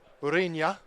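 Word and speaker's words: Ureña: Um so Javier Urena Urina is really the way you pronounce it.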